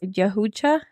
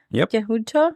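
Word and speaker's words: Yautja: and they're name they're also known as yucha yucha I was like I don't know if we're pronouncing it right but yeah that's the pronunciation that has here okay I trust it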